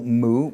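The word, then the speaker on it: μ: So this is our labial nasal, mu, mu. It's a bilabial. We put both lips together, m, m, m.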